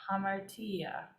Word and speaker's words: hamartia: um try pronouncing it it has a rough breathing good try you're close it sounds like that kind of it's ha with a rough breathing ha Ma bertia hamartia um kind of sounds